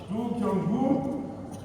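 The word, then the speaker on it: Dongyu: After all, who is the director general of the SAO, a Chinese national, his excellency Hu Dong Yu, you may speak, spell it right, Dongu, whom I had the pleasure of meeting at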